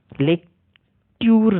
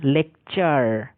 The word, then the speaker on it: lecture: LECTURE, লেকটিউর না, লেকচার। TU এর উচ্চারণটা চয়ের মতো হয়ে গেল।